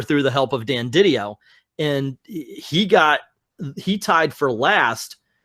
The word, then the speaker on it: DiDio: Is Didio. I've heard it Didio. both ways, but That's how he pronounced it himself.